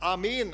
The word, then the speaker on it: Amen: Im Hebräischen wird es Amen ausgesprochen. Wir sagen Amen meist, die Engländer sagen Amen oder was weiß ich.